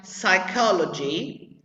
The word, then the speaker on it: psychology: with p and s like psychology where the p is always silent like psycho you don't